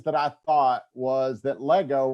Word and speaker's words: Lego: One of the first things that I thought was that Lego rhymes with let go.